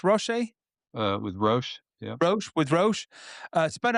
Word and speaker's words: Roche: You've commercialized software with is it pronounced Roche? With Roche, yeah.